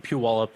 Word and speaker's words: Puyallup: Puyallup, yeah.